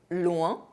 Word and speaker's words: loin: OIN are pronounced ouin, but ION are pronounced ion. Loin, lion.